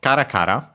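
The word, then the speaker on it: からから: Kakar accent on the first syllable as usual for these repeated ones.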